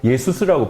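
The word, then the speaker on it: Jesus: 그들의 발음은 예수라고 발음하지 않고 예수스라고 발음하는데 등에 보면 그냥 지저스예요.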